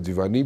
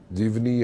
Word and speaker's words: जिवानी: भी है हमारे पास जिवानी भी है जीवनी या जिवानी जैसे भी आप प्रोनाउंस करते हैं उसको दो पोर्ट्स है